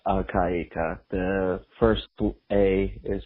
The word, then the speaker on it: al-Qaeda: me forward idea but uh it's just simply pronounced al-qaeda the first book a is very well pronounced